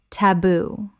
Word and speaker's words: taboo: Word 215, taboo. Common mispronunciation. Tab-oo. Correct pronunciation. Ta-boo. 2 syllables with the stress on the second. From Tongan via English.